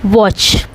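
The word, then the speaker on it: watch: वॉच देखिए वॉच है। T silent रहता है।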